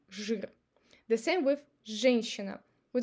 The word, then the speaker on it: жир: You see, zh is followed by I, but we're not trying to say жир. We just replace I with I in our pronunciation and say жир.